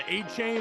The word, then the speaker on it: Achane: Jameis Winston, Devon Achane or Achan. I think he's trying to change the pronunciation. It's Achan now, Mike. It's Achan.